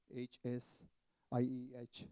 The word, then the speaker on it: Hsieh: Okay, and while I'm recommending that book, let me also recommend another one called Delivering Happiness by Tony Hsieh, T-O-N-Y-H-S-I-E-H, H-S-I-E-H. That's pronounced Hsieh, Tony Hsieh, Delivering Happiness.